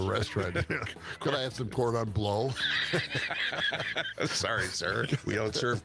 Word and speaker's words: cordon bleu: It is said cordon bleu. Well, cordon Seems bleu, odd. please. It's like the first time you've gone to the restaurant. Could I have some cordon bleu?